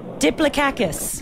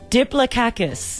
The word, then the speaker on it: diplococcus: It's D-I-P-L-O-C-O-C-C-U-S, but you apparently pronounce the C's as K's and the O's as A's.